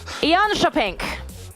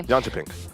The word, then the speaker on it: Jönköping: in Sweden, in a city I might not pronounce correctly. Here we go. Jönköping. Could be. Jönköping.